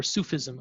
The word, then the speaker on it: Sufism: tradition of islamic mysticism sufism or sufism i should say i think that's that's how we pronounce it uh is he